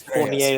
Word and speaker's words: Fournier: Second card I want to talk about is the 1988 Fournier. Did I pronounce that right? Yes. Fournier Estrellas.